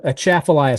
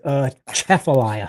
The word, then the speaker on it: Atchafalaya: It's a Atchafalaya. So you want to say it like you're about to sneeze. So it's Atchafalaya.